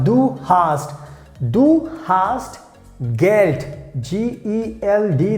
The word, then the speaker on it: Geld: G-E-L-D. That means we pronounce like Geld.